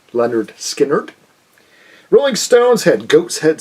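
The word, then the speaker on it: Lynyrd Skynyrd: Leonard Skinner, of course, had their debut, pronounced Leonard Skinner.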